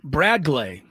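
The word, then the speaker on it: Bradgley: B R A D G L E Y pronounced though Bradlay Rodriguez.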